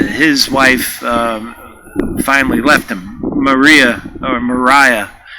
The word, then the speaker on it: Maria: Mariah, as I've been informed, is how she pronounced it.